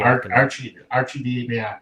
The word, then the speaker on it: Arcidiacono: Ryan Arcidiacono, however you pronounce his last name. Arcidiacono, thank you.